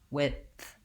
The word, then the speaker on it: width: a th and it sounds like wit with a break and then the th width breath it's a pretty